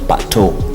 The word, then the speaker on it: Pato: Now, if Patrick, in short, in Kenya, it's pronounced Pato.